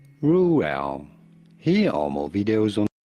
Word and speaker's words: Reuel: How do you go about pronouncing it? Reuel. Reuel. Reuel.